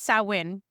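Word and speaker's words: Samhain: We were trying to get Sam Sam Hayne s something like what was the name of this festival? It's sin, but everyone says Sam like it's spelled.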